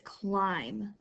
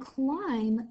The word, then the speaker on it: climb: our first word is climb and climb the beat is silent cool I climb the M and B together make the MM sound our next word oh